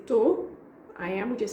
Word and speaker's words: tou: And then the answer, again, I'm skipping the beginning of the word, of the verb. So I say tô, I am, we just say I am.